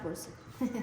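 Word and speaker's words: Porset: In collaboration with Clara Porcet. With who? With Clara Porcet. How do you spell that?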